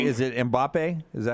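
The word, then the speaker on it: Mbappé: Is it Mbappe? Is that how you say his name? Mbappe, yeah.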